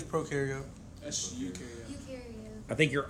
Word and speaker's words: prokaryote: Pro rhymes with no, remember?